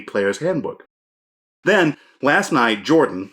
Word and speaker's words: Jorphdan: Then, last night, Jordan, the PH is silent, reported on social media that Wizards of the Coast had issued a copyright strike on his PHB video.